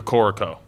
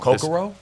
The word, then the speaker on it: Kokoro: Have you been to Corico? I hope I'm saying it right. It's the ramen place downtown. Kokoro? Kokoro.